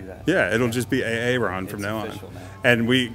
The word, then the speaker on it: Aaron: So I'm sitting here with Aaron, right? Did I say it right? Yep. It's not AA Ron? Nope.